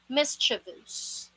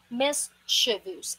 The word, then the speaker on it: mischievous: is the word it's pronounced as mischievous miss chavuz it's not chi ch listen carefully mischievous again mischievous